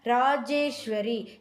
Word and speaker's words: ராஜேஸ்வரி: ராஜேஸ்வரி ஈ போடணும். இராஜேஸ்வரின்னு நம்ம சொல்ல வேண்டாம். ராஜேஸ்வரினே உச்சரிச்சா போதும். எழுதும்போது ஈ சேர்த்து எழுதணும்.